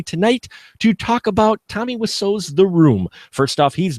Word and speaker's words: Wiseau: But I believe Wiseau is exactly how you say it.